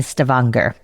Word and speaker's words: Stavanger: Plastic bag marked Oscar Rotvets Skotverkes Negante 18 Stavanger. That was not pronounced correctly, but I did my best. You nailed Stavanger, though. I mean, I think that is actually how you pronounce that place.